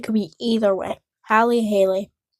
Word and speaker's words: Halley: That guy, isn't it pronounced Haley? Is it? I think that's a American ambassador's Eyes version of it. probably. So, it's Halie's call, I think. So, could be very wrong on that.